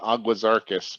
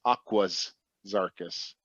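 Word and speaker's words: Aguas Zarcas: for a little while i've been saying agua circus but there's an s on the end of it aquas oh thank you yeah i think i think a few of us have either repeated it or just been saying it wrong but it's not aqua zarkis it's aqua's circus oh does anyone i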